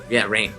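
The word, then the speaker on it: Rahne: And I have to say about the boys being separated by Rane being like, or Rain, sorry, I always say her name wrong. Rain.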